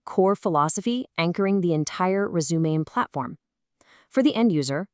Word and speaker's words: Resumaine: And just a quick note, that's pronounced Resumain.